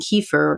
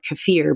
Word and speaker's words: kefir: things like yogurt and kefir cafir people pronounce it differently but things like sauerkraut